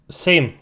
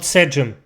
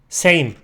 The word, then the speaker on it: Sejm: Same. Not Sejm. Mate, you're not Turkish. Same. And I know it sounds like the word for the same, like it's identical.